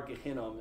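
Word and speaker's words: Gehinnom: area that valley um that's gehenna to this day our gehenom is how they say it in hebrew no one settled there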